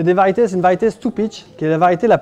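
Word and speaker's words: Stupice: Variété de tomate Stupich. Ça s'écrit Stupis. S-T-U-P-I-C-E.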